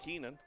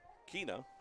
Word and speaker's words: Keena: The pitcher Trenton Keenan Kina I should say. Kina is spelled K E N A.